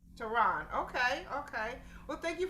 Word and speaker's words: Tehron: we don't mispronounce it it's toronto like the capital iran tehran okay okay well thank